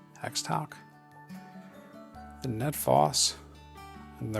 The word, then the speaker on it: Xtouc: The Guardian Eagle, the Xtouc, I think that's how you say it, Xtouc.